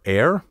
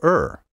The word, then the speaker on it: err: a mistake do you air or do you ER properly the verb to ER spelled e r r should rhyme with sir not with hair dictionaries have recorded pronunciation